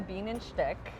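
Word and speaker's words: Bienenstich: So here we have a bean and shtick. That's how you pronounce it.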